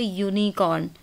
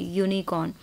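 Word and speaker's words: unicorn: तो ये सारे एग्जाम्पल्स हैं जहाँ पर कि आपको स्पेलिंग वाइज देखने में लग रहा है कि ये वॉवल से शुरू हो रही है स्पेलिंग, बट जब आप प्रोनाउंस करते हैं तो वॉवल साउंड नहीं आती है, कॉन्सोनेंट की साउंड है।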